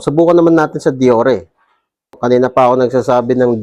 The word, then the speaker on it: Deore: O subukan naman natin sa diore.